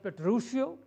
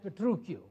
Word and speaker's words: Petruchio: be pronounced both as Petruchio and as the true Q in the Italian language they pronounce it with a hard CH thats came through q